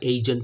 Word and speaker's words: eigen: সেই ভ্যালুগুলোকে বলা হচ্ছে কি এইগেন functions, EIGEN, এইগেন functions বা এইজেন ফাংশনস বা ইজেন ফাংশন, যে যেমন উচ্চারণ করে।